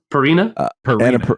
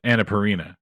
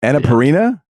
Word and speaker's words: Annapurna: Purina? Annapurna. Annapurna? Is how I'm looking at it. Well, it doesn't have an I between R and the N. You know, that's how you pronounce it.